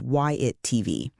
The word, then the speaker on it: WhyItTV: This is YATV, pronounced YIT TV.